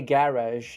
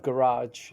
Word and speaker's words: garage: I already say garage instead of garage now.